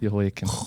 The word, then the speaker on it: Jehoiakim: The J is silent. Jehoiakim.